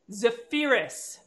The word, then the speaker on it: Zaferes: Zaferes. Yes. Zaferes. Oh. Emphasis on that first E.